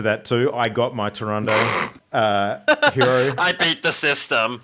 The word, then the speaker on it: Tyrande: how you called her Taronde, like she's Harambe. Like, she's like, can you think? No, It's actually, the Tyrande. reason why I'm calling her Tyrande is because now that there's actually a voiceover